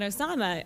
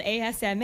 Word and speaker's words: Asma: on hold on um my name is not Osama oh okay Osama thanks very much you know and I'll say well no it's spelled Asma and particularly for airline